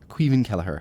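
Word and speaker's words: Caoimhín Kelleher: I've got the man the legend quen kellerer quen kellerer I said it right yes yes quen kellerer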